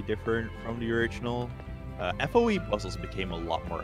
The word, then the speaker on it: FOE: Yeah, someone here earlier said like the way you say foe is really funny. It's like that's actually how you say it is foe.